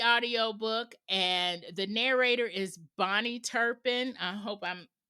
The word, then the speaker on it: Bahni: and the narrator is Bonnie Turpin. I hope I'm pronouncing her name right. It's spelled Bahni. So I hope that it's Bonnie. But when I first got